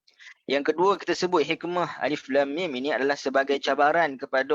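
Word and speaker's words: الم: Dan juga hikmah yang terakhir bagi alif lam mim ini adalah, iaitu Nabi SAW membaca alif lam mim itu secara ejaan. Alif lam mim, kita tak baca alam sebagaimana kita baca alam nashrah.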